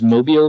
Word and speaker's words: Mobile: Pretty sure it's pronounced Mobile because that's what everyone called it while we were there, and I guess, trust the locals.